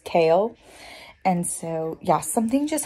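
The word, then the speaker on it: Chaol: It's the Gaol, C-H-A-O-L, and the pronunciation I looked up said it was pronounced Kale.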